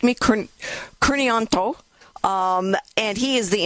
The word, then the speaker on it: Kurnian: So my last name is Kanto.